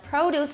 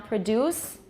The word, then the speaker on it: produce: stress patterns differ differ verbs tend to put the stress on which syllable if they're two syllables the second syllable like produce is the noun produce is the verb reject is the noun